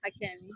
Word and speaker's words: Hakemi: And am I pronouncing your last name right? Hakemi? Hakemi.